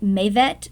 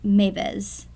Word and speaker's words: Maveth: The word would be pronounced either as Maveth or Mavez.